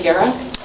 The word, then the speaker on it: Guerra: they just took me Guerra is how I pronounce it my comment is also